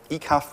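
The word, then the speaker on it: ecaf: or eong nose or eaf which is face and you may have noticed these are are backs slang words you you pronounce them as if the word is spelled backwards and sometimes eaf gets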